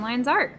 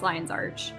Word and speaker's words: Lion's Arch: Okay, so we have setting the stage, which is down in Lion's Arc. Oh, Arch. I always call it Lion's Arc, but it's Lion's Arch.